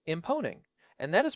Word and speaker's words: Mponeng: Herman poppleberry here and I have to say imponing and that is pronounced with a soft hum on the immeo